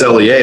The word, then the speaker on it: Lea: it wrong okay people people know it's Lea but they say isn't that Leah and I say I